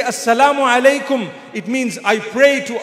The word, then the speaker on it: Assalamu alaikum: But unfortunately, people today say, Salih. Have you heard them greeting you? Salih. What is Salih? They say, no, I mean Assalamu alaikum. So say it properly. It's a blessed prayer for me. Say Assalamu alaikum.